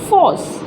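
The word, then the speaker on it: force: और आर हमारा साइलेंट है, इसको हम लगाते ही नहीं है। तो देखिए फ ओ स, फोर्स।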